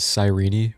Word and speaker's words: Cyrene: Also, I know her name is Sirene, but ain't no way I'm calling her that. That sounds ridiculous. What a stupid pronunciation.